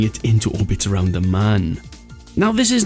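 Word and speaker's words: Mün: And yes, I know, I get comments all the time saying, it's not Moon, it's spelt Moon. It's got two asterisks on the top of it.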